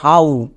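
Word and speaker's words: how: কিন্তু আমরা এরকম উচ্চারণ করি না। আমরা একে কষনো হো বলি না। কেন? বিকজ এটা হচ্ছে সাইট ওয়ার্ডস। এর জন্য আমরা উচ্চারণ করব হাউ। হো না তাহলে এখানে কিন্তু ওডব আউ সাউন্ড দেবে। সো আমরা একে ভুল করেও হ উচ্চারণ করবো না। বোঝা গেল? এর উচ্চারণটা হবে হাউ।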